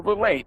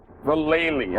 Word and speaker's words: Vallely: And that's General Vallee. How do you say it? Vallely. I'm sorry. I'm sorry that I'm getting his name wrong.